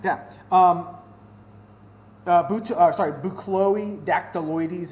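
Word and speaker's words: Buchloe dactyloides: um boots are sorry boo Chloe dactyl Louise is how you say the the Latin name boot Chloe deck -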